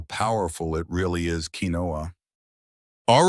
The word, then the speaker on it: quinoa: Quinoa, pronounced quinoa or quinoa.